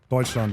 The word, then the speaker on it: Deutschland: Argentina versus Deutschland. Did I say that right? Deutschland, yeah. You're doing such a good job pronouncing names.